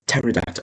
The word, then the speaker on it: pterodactyl: Pterodactyl isn't terod. It's pterodactyl. Okay, that's a dinosaur, isn't it?